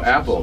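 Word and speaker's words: Apel: and his brother were appalled a-p-e-l or no apple they pronounced apple and then his second wife said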